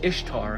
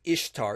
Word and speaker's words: Ishtar: did there and no there is no historian that says ishtar is pronounced like easter she's also known as